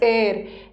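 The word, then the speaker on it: heir: pronunciation हेर नहीं है इसका प्रोनंसिएशन इ एर एर का मतलब होता है उत्तराधिकारी लिख लो हिंदी में सक्सेसर उत्तराधिकारी जिसको वारस बोलते हैं ठीक है वारिस है उत्तराधिकारी है तो इसमें एच साइलेंट है दिस इज़ एर एर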